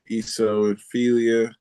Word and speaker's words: eosinophilia: It's I don't know how to pronounce it. Drug reaction with EOSINOPHILIA. Um, I yeah, forgot the first two letters, so I don't know how it's pronounced. it's EOSSINOPHILA.